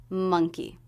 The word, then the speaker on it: monkey: pronunciation of the word monkey this is a two- syllable word with stress on the first syllable D monkey it begins with the